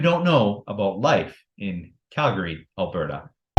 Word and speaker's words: Calgary: here when you say Calgary when you really emphasize that second a the way you pronounce it is Calgary you don't pronounce that